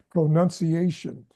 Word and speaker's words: pronunciation: me pronunciation and what what American speakers tend to do is is they shorten the o sound like pronunciation see I think if you're learning it you tend to want to put an emphasis on pro but the American English is pronun pronunci pronunciation so you don't put as much emphas es on the pro as you do on the nun as pronunciation.